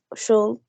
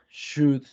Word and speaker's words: should: Remember, this word should and would, you don't pronounce the letter L, right?